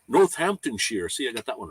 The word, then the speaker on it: Northamptonshire: Um, I'm up the road in the former UK shoe capital, Northamptonshire. Northamptonshire. See, I got that one right. Shire is sheer.